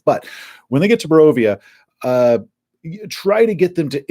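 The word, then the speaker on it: Barovia: town of Ravenloft morovia in my video I called it bere via and I still get so much crap from people that act like they must be from there and I mispronounce the name because they took that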